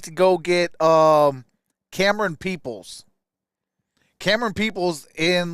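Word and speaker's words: Camerun: can run camera Cam Cameron like Cameron but it's spelled like cam it's spelled c-a-m-e-r-u-n peoples I think will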